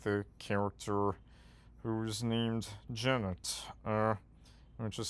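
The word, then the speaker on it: Genet: character who is named Jennet. Uh which is spelled ge ne just like the playright but the t is actually pronounced.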